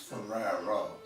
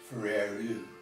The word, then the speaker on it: Ferraro: mean Deo I'm not my last name is pronounced Ferraro and every sing in one of s she especially the southern ones feru that was different name in the van most